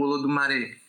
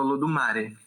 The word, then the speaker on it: Olodumare: Que o nome dele, para quem cultua orixá, o nome de Deus seria Olodumare. Ou Olodumare. Depende as pessoas costumam pronunciar das duas formas, assim. Eu falo Olodumare.